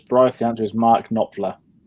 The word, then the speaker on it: Knopfler: The answer is Mark Knopfler. Pronounced right?